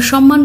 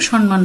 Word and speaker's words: সম্মান: তোমরা অনেকে ভুল করো, তোমরা উচ্চারণ করো সম্মান, এখানে তো দুটো ম যুক্ত হয়ে আছে, দন্তন্য মাঝখানে নেই, তাহলে কোনোভাবেই তো সম্মান হয় না। সঠিক উচ্চারণ সম্মান।